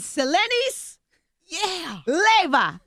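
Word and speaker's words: Selenis Leyva: And Selenis, Leva. Yes. I said it right.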